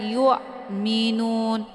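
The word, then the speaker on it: يؤمنون: Jadi bacanya yu, tipis dan bunyinya jelas atau terang. Bukan dibaca yu, minun. Nah, ini kebanyakan yang kita perdapatkan. Cara membacanya itu adalah yu, minun. Itu bacaan yang salah. Bukan yu, tapi yu, mi. Bacaannya tipis kemudian ditekan dan hamzahnya jelas, terang, ya.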